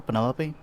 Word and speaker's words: Penelope: is that short for penelope officially yes but i never can be bothered with all four syllables of it penelope sounds a little